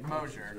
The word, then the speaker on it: Moser: Moser is, did I pronounce that correctly, Moser? You did, Mosier. Mosier. Sounds like there's an H in there.